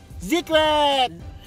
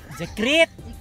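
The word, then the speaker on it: Zekreet: They called Zikrit. Zikrit. Zikrit. Zikrit. Ah, ganyan pala pronunciation na.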